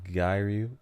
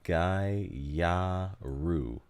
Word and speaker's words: gyaru: Okay, so you say Gairu, pronounced Gyaru. Gyaru. It's either Gyaru or Gyaru. Gyaru, which is Japanese slang for gal.